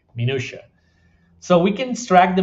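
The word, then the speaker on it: minutiae: from those and those we are calling minua that's how you pronounce that by the way minua so we can stract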